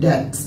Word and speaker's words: debts: সো এটা হচ্ছে debts, DEBTS, debts মানে হচ্ছে ঋণ। সো এখানে কিন্তু মাঝখানে একটা বি রয়েছে, যে বিটা আসলে উচ্চারণ হয় না।